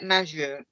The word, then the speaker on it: majeur: Si j'avais 18 ans, je serais majeur. Okay. Majeur ou majeur? Je ne sais Majeur, pas. majeur. Majeur, ok. Vous vous rappelez, dans le tableau de phonétique, le J se prononce je.